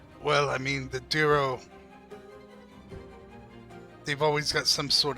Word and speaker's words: Derro: Derro.